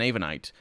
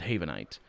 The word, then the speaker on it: Havenite: dropped the H, and I don't pronounce it Havenite, which is how I should pronounce it. But you don't say ein Havenite. It's a Havenite, I think.